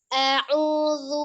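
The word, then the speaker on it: أعوذ: A'udzu.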